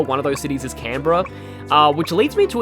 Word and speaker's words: Canberra: always pronounce it as Canberra because that's how it's spelled uh but no uh the like one of the E's is like silent it's K it's Canberra and that Lander will